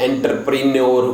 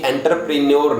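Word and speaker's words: entrepreneur: ये एंटरप्रेन्योर नहीं होता, ये एंटरप्रेन्योर बोला जाता है। क्या? एंटरप्रेन्योर, लास्ट का जो आर है वो भी हल्का सा साइलेंट रहता है, और ये ओंटर होता है बाबूजी, ये कभी एंटर नहीं होता।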